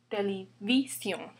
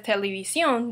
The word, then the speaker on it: televisión: Other examples would be televisión. Without accent, the stress would be on this I, televisión. But we pronounce it as televisión, that's why we need accent mark.